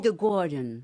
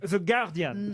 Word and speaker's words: The Guardian: Comment vous dites On vous dit The Guardian. The Guardian. The Guardian. Comment vous dites The Guardian. The Guardian. Normalement, effectivement, on dit pas le U.